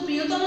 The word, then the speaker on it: প্রিয়তম: যেমন প্রিয়তম, আমরা কিন্তু প্রিয়তম যখন লিখি প্রিয়তম, কিন্তু উচ্চারণের বেলায় ওকার দিয়ে আমরা উচ্চারিত করি।